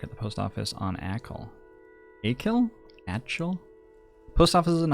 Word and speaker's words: Achill: Pronunciation, Achill.